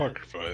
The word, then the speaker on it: Apocrypha: How do you pronounce that? Apocrypha, yeah, those are the books that most Christian denominations do not recognize, but Ethiopia does because they accept every book.